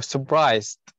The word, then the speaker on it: surprised: اللي هو surprise بس لو نضيف عليها ed اللي هو تصير صفة اللي هو surprised. surprised. مرة ثانية. surprised. أحسنتي اللي هو surprised. طبعا حرف الR هنا silent ما تنطق surprised تمام؟